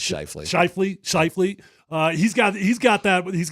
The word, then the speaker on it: Scheifele: Well, not only was it not a drain, but in the third there, when Mark Scheffel, is that how you say it? Yeah. I think it's Scheifele. Scheifele.